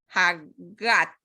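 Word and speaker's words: JaGaT: Entonces se pronuncia Hagat.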